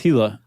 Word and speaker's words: Gila: There are lizards, specifically the, do you say Gila monster or Gila monster? I think it's Gila. I think it is the too. British say Gila and they're wrong.